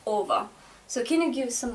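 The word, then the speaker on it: -ого: it is uh spelled Oro but it is pronounced over so can you give some more examples so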